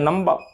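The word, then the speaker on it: number: British English में नंबर, R silent हो गया अंतिम वाला, लेकिन अमेरिकन इंग्लिश में R साइलेंट नहीं, नंबर।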